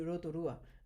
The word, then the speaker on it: Rotorua: comme ça en fait donc ça s'écrit rotura mais tu dis Rotorua d'accord et tu es